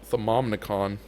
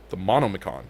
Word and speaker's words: Thaumonomicon: Because I feel like we don't need another Thaumonicon. Thaumonomicon. Okay, that's how you say it.